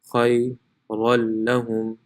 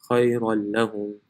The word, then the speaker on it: خَيْرًا لَهُمْ: So it will be pronounced khayran lahum. The noon is no longer pronounced. Khayran lahum.